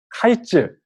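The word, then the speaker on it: קַיִץ: 이 여름 과일이라는 단어는 원어로 하이츠 이렇게 하는 발음이고요. 이 끝이라는 단어는 여기 하, 캐츠 이렇게 되어 있는데 이 하는 정관사거든요. 그 끝. 그래서 이 단어만 보자면 카이츠 그리고 캐츠 이렇게 비슷한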